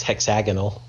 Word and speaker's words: hexagonal: peeve i do have to say it's hexagonal you put the wrong emphasis on the wrong syllable yeah bad habits i